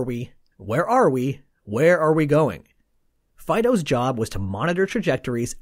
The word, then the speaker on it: FDO: Next was FDO, pronounced Fido.